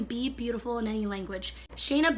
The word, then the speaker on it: Shayna: So back to Shania or Shania B. It's Shayna. Oh, see, it has the pronunciation right there, Shayna.